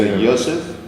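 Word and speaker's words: יוסף: Joseph is, of course, not pronounced Joseph. No, it's in not. Hebrew. It's Joseph. So what you have here, this is the Yosef. Yes, exactly as any Hebrew-speaking person would pronounce it.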